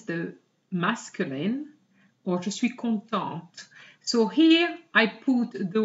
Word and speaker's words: contente: So normally, the T is silent at the end, but if you have an E after it, you have to pronounce it.